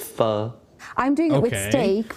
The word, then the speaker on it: pho: So not pho, it's pho.